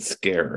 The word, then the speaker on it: Skerre: yes so I just pronounce it scare as if it was a English word but we're looking at